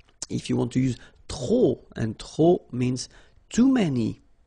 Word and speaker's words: trop: If you want to use trop, and trop means too many, okay, then you will have to put de and the noun without the article. Okay, remember, too many, trop, don't pronounce the final P.